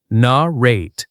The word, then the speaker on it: narrate: Repeat after me, narrate. Pronunciation tip, stress on the second syllable, narrate.